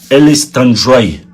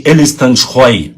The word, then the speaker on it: Элистанжай: Но я хочу сказать, они мне очень, так сказать, их взрослые непосредственно представители сказали, что делашь они сказали, что правильно говорить Элистанжай, не Элистанжй, а Элистанжай.